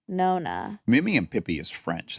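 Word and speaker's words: nonna: I feel like I'm saying it wrong, but Nona and No-No? it's definitely Nona.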